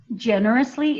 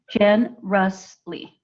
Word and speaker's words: generously: then one more um generously is Jen because we pronounce it with the J sound not the G generously okay and so at